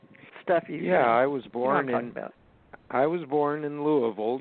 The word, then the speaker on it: Louisville: Stuff I was born in Louisville. You say it the way they say it back there. When people read it, they call it Louisville, but you're right, they pronounce it Louisville.